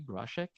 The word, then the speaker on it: Groshek: Kim, am I pronouncing it the right way, Groshek?